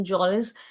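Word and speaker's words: mjolis: So, trudging means to walk slowly, and snare means to trap, and Majolis, M is silent, so Jolis is a game played with playing cards.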